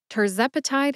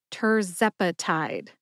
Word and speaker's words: tirzepatide: get started with tepati tepati has four syllables tur like turbocharged Zep which rhymes with pep uh which is a